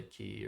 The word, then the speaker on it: quay: he basically has to just play key or whatever Quay whatever you want to pronounce it and that gives me